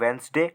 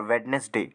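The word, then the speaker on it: Wednesday: देखो Monday ट्यूसडे वेनसडे इसे आप वेनसडे और वेडनेसडे दोनों तरीके से बोल सकते हैं ठीक है थर्सडे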